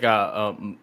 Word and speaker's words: Maiar: What I took him trying to say was, I can't pronounce it, but it's like Maiar. That's how you pronounce it.